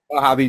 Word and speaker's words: Mojave: major desert is is that how it is pronounced mojave desert yeah yeah it's it's kind of a